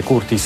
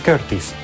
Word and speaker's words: Curtis: Sì, lo so, non si dice Curtis, si dice Curtis, ma a me piace Curtis, come un nobile napoletano.